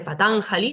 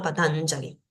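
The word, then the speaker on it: Patañjali: decimos jala decimos Yala siempre estas jas en sánscrito se van a pronunciar como una ya entonces patanjali no se dice patanjali sino patanjali la H que nunca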